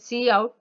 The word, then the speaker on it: cout: So as you see, I'm pronouncing it see out, not out.